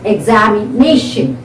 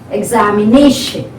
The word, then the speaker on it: examination: So the stress is on the fourth syllable here. Okay, examination, examination.